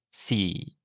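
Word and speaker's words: สี่: Sam, le 4 se prononce si. La difficulté, c'est le ton bas qu'il se prononce avec une voix grave et une intonation qui descend comme à la fin d'une phrase.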